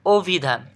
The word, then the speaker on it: অভিধান: ব্রাহ্মণ যেটাই বল ব্রাহ্মণ এটা কি ব্রাহ্মণ সঠিক উচ্চারণ কি ব্রাহ্মণ একটু আগে পড়াইছি এরপর অভিধান এখানে এই শরীয়টা হচ্ছে তোমাদের ও দ্বারা পরিবর্তন